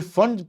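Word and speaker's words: Pfund: फिर फंड P silent है, फंड series, वो एनएफ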